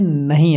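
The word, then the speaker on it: know: तो के एन और डब्ल्यू को हम कनो नहीं पढ़ेंगे बल्कि इसका के है जो वो साइलेंट रहेगा।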